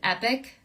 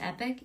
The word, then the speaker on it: Epoch: my agent I'm with epic spelled like Epoch but pronounced epic e-p-o-c-h that's my agent